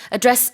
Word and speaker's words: address: As you said, the stress of this word as a verb is on the second syllable, so it's address.